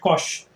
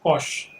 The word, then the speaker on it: cosh: Okay, we call it cosh. Our prof in IITK used to say that it's the cos hyperbolic, used to pronounce it as cosh 2x.